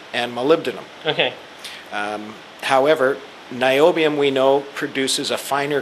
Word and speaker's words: niobium: you got to remind me how do I pronounce this M El niobium niobium okay I'm thinking where do I use it